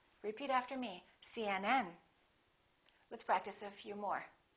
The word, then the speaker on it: CNN: u a p HD the rule is we stress the last letter of an abbreviation for example CNN UCLA